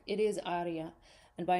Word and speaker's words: aria: The accent goes on the first syllable in aria.